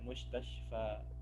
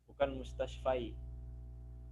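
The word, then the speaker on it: مستشفى: Ya, karena dari bacanya aja kita mustashfa, bukan Hemat. mustashfai. Ya. Kalau ya dia jadi mustashfai. Di sini kita bacanya mustashfa.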